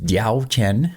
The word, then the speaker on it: Diaochan: so we have d Chen here it is diao Chen that's how it's pronounced it's not really a Chan it's more